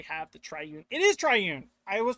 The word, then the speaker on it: triune: It is triune. I was pronouncing it right the whole time.